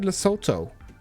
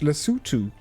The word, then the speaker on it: Lesotho: I've always said Lesotho. I learned the other day that it's actually pronounced Lesotho.